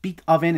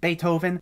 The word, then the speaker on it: Beethoven: this blank stare and they mispronounce people's names like beet oven instead of beethoven or soakrates instead of socrates plus some of the